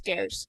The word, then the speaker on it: Gares: the game as Meredith Gares is going to shoot free throws. I hope I can pronounce that last name right. It's Gares.